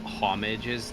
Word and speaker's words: homage: Oh, homages to this or whatever. How you say that? Homage. Homage. Yeah, the H is silent.